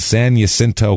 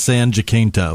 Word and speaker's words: San Jacinto: It was a junior college called San Jacinto College in Texas.